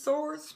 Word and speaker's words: swords: my porsche she goes swords and you know we know the w is silent it's source for sure and uh